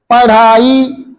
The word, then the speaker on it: पढ़ाई: शुद्ध उच्चारण क्या होता है, पढ़ाई, धड़कन का उच्चारण आ रहा है, पढ़ाई, पढ़ाई।